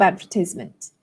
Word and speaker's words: advertisement: Or to apply for a job advertisement, right? A job advertisement. So in American English, the stress falls on the third syllable.